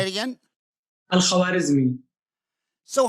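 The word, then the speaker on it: الخوارزمي: Al-Khwarizmi. Say it again. Al-Khwarizmi.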